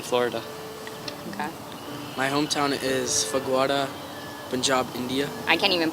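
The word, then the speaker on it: Phagwara: My hometown is Fagwada, Punjab, India. I can't even pronounce that.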